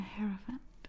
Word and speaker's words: Hierophant: The Hierophant is how you say it.